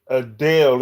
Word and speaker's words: Adele: Well, we say Adele. It's spelled Adele. We pronounce it Adele Loretta because we're Southern folk.